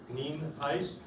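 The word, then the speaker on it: Nienhuis: for your records um Hernando County Sheriff ning heis it's pronounced neem ice and it is spelled n-i-e-n-h-u-i-s uh I do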